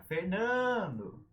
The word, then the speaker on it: Fernando: O meu nome, Fernando. Não tem acento, mas tem sílaba tônica. Fernando!